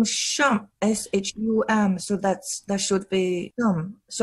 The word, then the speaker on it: Shum: So that's why I don't know how to pronounce Chinese names when they're there in front of me. My family name is Shum, S-H-U-M, so that should be Shum.